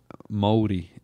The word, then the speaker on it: Māori: Māori. Maori. If you were to say how it's spelled, it's like Maori or Maori. Gotcha, Maori. You kind of roll that R.